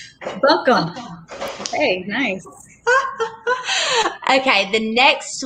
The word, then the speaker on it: Buncombe: So that's Buncombe. Buncombe.